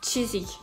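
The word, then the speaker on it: Chiswick: station ça se dit ça s'écrit schiste week mais ça se dit chizick voilà w là pour une fois on retrouve le sem ou le retrouve en rose film on retrouve le même le même truc que l'ap la fois d'avant donc on ne prononcera pas le w ouais voilà la partie du milieu disparaît voilà chasing et physiques pour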